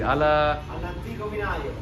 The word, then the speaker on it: All'Antico Vinaio: All'Antico Vinaio.